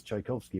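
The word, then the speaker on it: Czajkowski: mean my my name my actual name name is chaikovsky but it's spelled very differently it's got the Polish spelling which starts CZ which was also I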